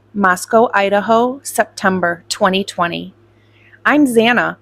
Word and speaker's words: Zana: I'm Zana, pronounced Xanax without the X, is how the petite brunette introduced herself to the Pi Phis on the first day, and everyone laughed.